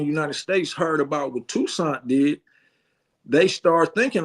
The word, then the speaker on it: Toussaint: Okay, if it wasn't for, now you corrected me last time, I had trouble pronouncing his name, but his first name is Toussaint, right?